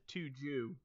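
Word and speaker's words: Tujuh: I pronounce it Tuju.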